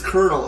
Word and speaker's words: colonel: I think colonel. And people are like, that's not what it is. It's kernel. It's like, that's not how you say it.